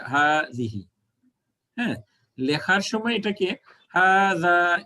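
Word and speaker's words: هذه: বাট এটার উচ্চারণটা হবে হাজিহি আপনাদের লেখার সময় খালি আলিফ দিতে হবে না বাট উচ্চারণের সময় এক আলিফ টানতে হবে হাজিহি হ্যাঁ লেখার সময় এটাকে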